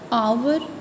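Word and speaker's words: hour: सी friends, इसमें जो first दोनों के पास एच है फर्स्ट में, लेकिन जब हम प्रोनाउंस कर रहे हैं तो आवर में हमारे पास वॉवल साउंड आ रही है और हॉर्स में हमारे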